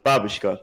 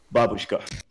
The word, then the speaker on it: babushka: So Nick, you said babushka before. It's like babushka.